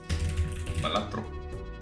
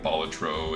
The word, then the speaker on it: Balatro: Batro now instead of Batro. I know it's Baltro technically. Like that's uh like Bolatro is the right way to pronounce it instead of Batro.